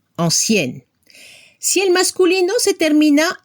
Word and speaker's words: ancienne: Al femenino se escucha la N final, ancienne.